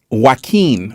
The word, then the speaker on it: Joaquin: Joaquin. Okay, that's the way to pronounce it.